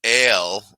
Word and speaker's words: Ala: Uh, And Allah or Hala, pronounced Ale or Hali, is a female mythological creature recorded in the folklore of Bulgarians, Macedonians, and Serbs.